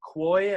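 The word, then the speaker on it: Quoi: i'm just going to call them koi i think that's maybe how you pronounce it it's like q-u-o-i he is the son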